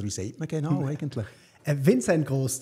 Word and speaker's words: Vincent Gross: Vincent Gross, tatsächlich. Spricht man es Deutsch aus und Gross wie klein.